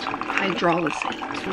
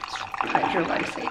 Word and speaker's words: hydrolysate: pronounced hydrolysate, not hydrolysate, I've learned.